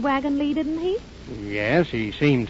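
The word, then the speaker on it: Wagons-Lits: This is the wagon Lee office. Why? It's spelled wagon lits. I know it's spelled litz, but over here they pronounce it lee.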